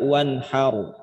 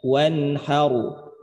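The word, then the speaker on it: وَالنَّهَارُ: Jadi bukan dibaca har, tapi bacanya wanharu. Aru. Wanharu. Nah, gitu. Jadi ro-nya tebal. Ro-nya tebal. Wanharu. Jadi bukan dibaca wanhar. Emang ada bunyi R-nya.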